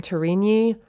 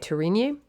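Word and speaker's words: Tourigny: to say his name torini that's how i would think to say it t-o-u-r-i-g-n-y tourini and he's a historical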